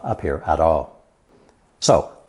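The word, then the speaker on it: 巳: it's swallowed in cloth this rare character is pronounced fourth tone s s and is used almost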